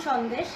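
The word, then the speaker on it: সন্দেশ: See, my second recipe is aam shondesh.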